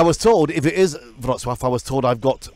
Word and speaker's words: Wrocław: Yeah, and I was told, if it is Wrocław, I was told I've got one of the best pronunciations of any English. Yeah. Wrocław.